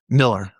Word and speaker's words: Mueller: And then I started hanging out with this guy John Mueller. Miller. It it's it's spelled like you should say Mueller, but it's Miller.